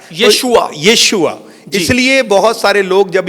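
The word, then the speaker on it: ישוע: कम लोग बोला करते हैं लेकिन जो राइट प्रोनाउंस जो इब्रानी में आता है वह यशुआ आता है यशुआ इसलिए बहुत सारे लोग जब इससे अवगत होते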